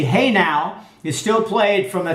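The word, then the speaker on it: Hejnał: there on every hour a trumpet signal called the hedel meaning St Mary's Dawn and pronounced the hey now is still played from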